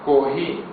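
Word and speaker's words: コーヒー: Eles chamam o café de kohi. Porque o japonês não tem a letra F. Então, coffee fica sendo kohi.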